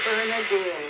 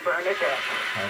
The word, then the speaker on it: Bernardine: business calls and things I will say my name Bernardine and then they come back and call me bernardette everybody thinks the bernardet